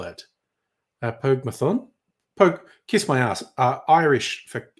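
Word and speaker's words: Póg mo thóin: Pogmathon, kiss my ass. Irish for kiss my ass. Pogmahone, most people say.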